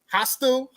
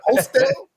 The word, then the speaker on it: hostel: You mispronounced that like a motherfucker, bro. Hostile. There you go. Hostel. Hostel. Hostess. That's what they call it. A hostel.